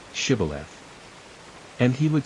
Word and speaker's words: Shibboleth: If he said, No, then they would say to him, Then say, Shibboleth. And he would say, Sibboleth, for he could not pronounce it right.